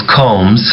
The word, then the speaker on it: combs: خلي بالكم يا جماعة combs دي البي فيها السايلنت. الحرف البي ما مش بيتنطق في combs. تعالوا نسمعها تاني. He always combs his hair. He always combs his hair. ما نطقش البي عشان silent.